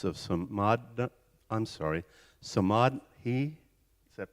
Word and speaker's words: Samadhi: is the significance of some mod I'm sorry Samad he is that pronounced correctly so mod s-a-m-8 -d-h-i and how